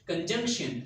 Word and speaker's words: conjunction: And here this word is conjunction. Stress will be on the J or the J sound.